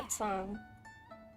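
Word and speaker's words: Mondstadt: Doesn't she live in Mel Outsong? We should hurry up. Paimon hopes we can find her there. Outsong. That's how you pronounce it.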